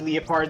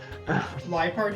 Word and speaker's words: Liepard: I sometimes appreciate that like they get like that like at least with Leopard they got like spicy and made it dark type. Liepard, you mean?